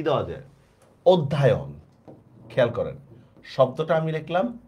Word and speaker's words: অধ্যয়ন: তাহলে সঠিক বানানটা আসলে হবে অধ্যয়ন, ঠিক আছে? এটা কিন্তু অধ্যায়ন হবে না।